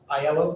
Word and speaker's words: Aiello: It has been moved and seconded to appoint Evelyn Aiello, is that how you pronounce it? Aiello. Thank you for correcting me.